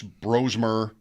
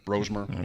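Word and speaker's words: Brosmer: Max Bromer, I think they want us to say it that way. Bromer.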